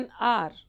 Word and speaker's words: hour: My father returned after an hour. H silent, an hour.